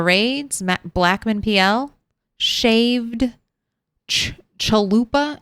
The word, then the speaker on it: chalupa: I want to say chupalooa, but that's just because I hear someone say chupalupa and I know that's not right. Shaved chalupa. Say the word the way the word is spelled, not the fun way you want to say it.